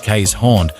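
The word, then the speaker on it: Keeshond: the Dutch barge dog the Kon pronounced K's horn didn't get to be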